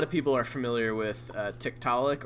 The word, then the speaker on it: Tiktaalik: people are familiar with tiktalik or tick to lick I believe is how it's supposed to be pronounced it's a it's an